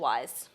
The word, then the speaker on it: Weisz: You know, how do you feel about Rachel Weisz?